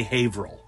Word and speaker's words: Haverhill: haunts public page and yes it's spelled Haverhill but this is New England so we say Haverhill hey Worcestershire yeah exactly